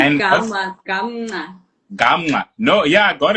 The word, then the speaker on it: Gamnca: It's called Gamnca. Oh, Gamnca. Yes. Okay, Gamnca. Yes. Okay, Gamnca. Gamnca. Not Gam. Gamnca. Uh-uh. Okay, Gamnca. like softly so.